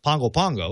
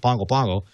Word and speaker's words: Pago Pago: is uh is pronounced pongo pongo it's spelled pago pago it's pronounced pongo pango and uh they had